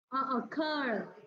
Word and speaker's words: occur: Occur, động từ nên là trọng âm là ngoài.